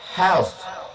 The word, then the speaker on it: health: Sehat itu bahasa Inggrisnya health. Di ujungnya ada thak tanya how your health? Health artinya neraka jahanam. Kalau health mesti dibaca pakai th.